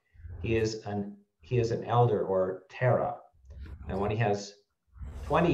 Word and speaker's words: Thera: So yeah, it's spelled Thera, but that's in the Pali language. That means elder. Okay, wow. So and it's pronounced Tara.